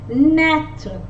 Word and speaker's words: naître: I with a accent circumflex is pronounced as a, like the letter E in elephant, like the letter E in elephant. Naître, naître means to be born.